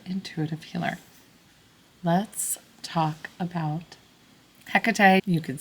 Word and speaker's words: Hecate: Let's talk about Hecate. You could say Hekate. It's spelled with a C or a K. She doesn't mind either way. So, Hecate is a Greek deity that she is well